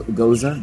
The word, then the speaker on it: Gose: say this right go goza g o s go go go is pronounced like the lady's name Rosa Rosa Rosa Rosa do